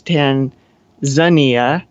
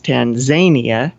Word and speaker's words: Tanzania: a couple of times so it was originally from tanganyika and zanzibar since danzabar was pronounced with the zan it makes sense to pronounce it with the za sound more than you possibly